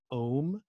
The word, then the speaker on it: ohm: resistance is called an ohm that's om if you spell it out and like most of